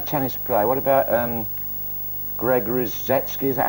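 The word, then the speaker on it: Rusedski: What about Greg Rozetsky? Is that how you say it? Absolutely right. Greg Rozetsky.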